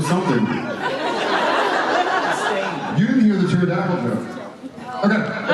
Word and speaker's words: pterodactyl: you didn't hear the pterodactyl joke okay yeah I haven't heard the pterodactyl go to the bathroom because they're a state because the pee is silent so he has